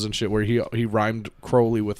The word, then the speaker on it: Crowley: research for this episode i think we are wrong about his last name i think he pronounced the crow crowley well he's dead i